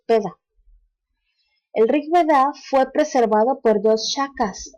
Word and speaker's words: Rigveda: escrito en sánscrito y se pronuncia así poniendo el acento en la rigveda para los que pregunten